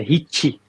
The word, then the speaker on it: Ricci: Esse R I CCI é italiano mesmo ou tô viajando na maionese. Exatamente. É Hit. Hit.